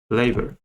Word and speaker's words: labor: Labor. Labor. So the stress is on the first syllable. So we have labor. Labor. So the phonogram or becomes a schwa sound, or labor.